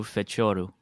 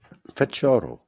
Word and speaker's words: Fecioru: do that so my my name is Alexandro fetu that's how it's said feto yeah people people often